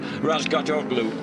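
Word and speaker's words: Razgatlıoğlu: Toprak Razgatoglu on board. Oh, you've told me not to pronounce the G, Julian.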